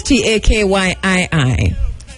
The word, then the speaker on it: Takyii: All right, because we're using the Ghanaian pronunciation, and it is Takyii, as opposed K as in king, right? Y with two I's.